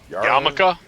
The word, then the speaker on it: yarmulke: Yarmule? The Jewish thing? Yarmulke? It's not how it's spelled, I guess. It looks like it's spelled Yamaluke.